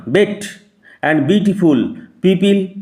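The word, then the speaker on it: bête: বেটে নয়, বেট।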